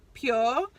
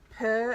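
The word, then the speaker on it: Pür: And I also got this highlight palette from, I think you pronounce it Pure, because it's got the little dots over the U, not purr as in like a cat.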